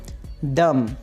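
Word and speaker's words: dumb: और इसी तरह से हमारे पास बी साइलेंट है इस वर्ड के अंदर। डम। डम। गूंगे को इंग्लिश में बोलते हैं डम।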